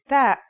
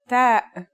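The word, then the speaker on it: ت: The pronunciation is like the English T, except you should release your breath with a strong burst of air. Try it. Ta.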